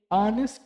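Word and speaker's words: honest: আশা করে বোঝাতে পেরেছি এরপরে লক্ষ্য করো many অনেস্ট man suffer in silent এখন ফোকাস করো মেনি রয়েছে এরপরে শূন্য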